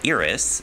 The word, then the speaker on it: Eris: Instead, the recognized dwarf planets are Ceres, Pluto, Eris, or Iris, as I found out is an alternate pronunciation.